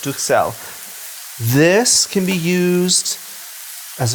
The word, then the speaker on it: Duxelles: It's a French word. Some people say Duxelles, but it's Duxelles.